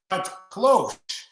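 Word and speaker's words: cloche: So So Planton says, um, it's cloch and it's a garden protective thing. Okay, close. I was probably pronouncing that H a little hard, but it's okay.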